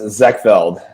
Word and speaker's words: Zekveld: Uh it's uh pronounced Zackfeld. Zachfeld.